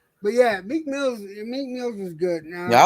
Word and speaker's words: Meek Mill: said the name wrong it's not malik i feel like come on make mills meek mills god damn it oh